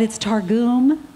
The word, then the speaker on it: Targum: And for years, I thought it was Targum. I thought it was the Targum Bible. I said that on TV, and only later did I find out it's Targum.